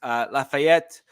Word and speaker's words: Lafayette: Lafayette, yes, I did pronounce that with a French accent. That's ETTE, which is typically French, so just deal with it.